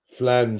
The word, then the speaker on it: Phalange: It's spelled P-H-A. Regina P. Yeah, straight. The first Regina P. P-H-A-L-A-N-G-E. Flange.